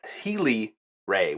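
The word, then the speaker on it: Saheeli Rai: and our rare is OC healy-rae now thank you very much too i believe the commenter's name was Jesse for telling me how to pronounce her last name it is said healy-rae which is a mythic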